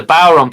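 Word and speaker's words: bodhrán: Yes, the Bodrum player, the Bowron player did. Yes, Aaron. Bowron. That's all right. It's spelt funny. It's Irish.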